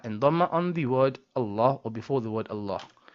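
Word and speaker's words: الله: One last thing about the word Allah, which is the last ha in the word Allah, is often not pronounced by many. And I'm hoping this is because of unintention. So this ha comes from the bottom throat, as we discussed in point number 3. And you have to pronounce it.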